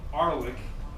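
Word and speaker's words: RLEC: So now we have something called Redis Labs Enterprise Cluster, which we lovingly call Arlic, which rhymes with garlic.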